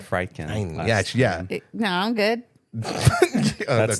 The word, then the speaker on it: Friedkin: And I'm like, dude, you can pronounce that, but you can't pronounce William Friedkin? You said Friedkin.